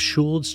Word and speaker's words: Schuld: Reggie did a piece to camera about the legend of Schuld's traveling wonder, stumbling over the name twice, getting irritated when Ronnie tried to correct him. It's a German name, Schuld, like Schoold.